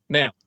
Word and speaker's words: Nel: Nail. You have to pronounce it nail.